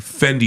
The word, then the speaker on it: Fendi: Yeah, because Fendi Givenchy. rhymes with Wendy.